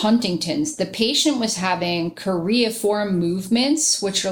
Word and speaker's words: choreiform: So, as common with Huntington's, the patient was having choreiform movements, which are like these like jerky, erratic movements that almost look kind of like dancing.